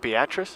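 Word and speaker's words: Beatrice: it till spring break that's how you say it beatric yeah it looks like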